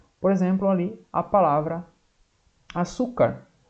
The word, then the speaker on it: açúcar: Por exemplo, ali a palavra açúcar. Açúcar termina com R. Quando é uma paroxítona que termina com R, vai acento. Açúcar. Qual é a sílaba mais forte? É o su.